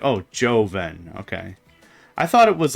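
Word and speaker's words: Jhonen: which it took me way too long to figure out how to pronounce that gentleman's name. It's Joven.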